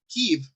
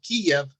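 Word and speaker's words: Kyiv: the capital of ukraine kiev you're saying that you side with the ukrainians if you call that that capital kiev breaking the diphthong and separating it into an eye and an e tf then you're pronouncing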